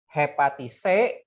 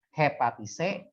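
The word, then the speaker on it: Hepaticae: Hepatise, nah CAE disebut dibacanya C aja. Hepatise ya, dan lumut tanduk, aduh kurang K.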